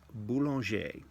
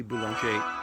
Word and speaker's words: Boulanger: This lady, Lily Boulanger, in the book writes, they talk about her. Lily Boulanger.